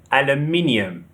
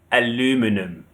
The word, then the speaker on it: aluminium: Aluminium. The stress is on the second syllable. However, Americans say aluminum. Aluminum. The stress is on the third syllable, aluminum.